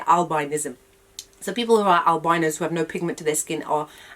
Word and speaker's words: albinism: That's how you say it, albinism.